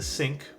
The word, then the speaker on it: Cinque: well today we're building I believe it's pronounced the sync it's a 60% keyboard